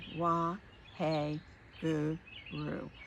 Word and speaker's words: Waheguru: Then on the exhale, we're using another mantra, which is Wa, W-A-H-E, hey, Gu, G-U, Ru, R-U. Wa, hey, Gu, Ru.